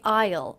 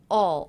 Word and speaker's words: I'll: I pronounced that contraction I didn't say Isle Isle I said all all so it sounded a lot like this word in fact it sounded just like this word all all i used the aw